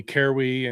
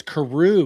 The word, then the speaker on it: Carewe: and he couldn't he he could not for the life of him pronounce my last name correct. Um he called me Carwy and Caryou and all sorts of other things and so, he's just like, oh, it's Karoo.